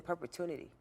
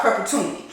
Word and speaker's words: perpetuity: while doing it in perpetuinity a lot of people don't know that word y'all should Google that thank you Jocelyn I thought I was pronouncing it what a perpetuity I'm sorry perpetuity your image is used